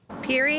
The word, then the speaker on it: Pierre: our unique local pronunciations Peri Avenue Peri Avenue Peri Avenue pretty much anywhere else in the world this would obviously be Pierre Avenue but not here in Windsor that's not how we say it and it's not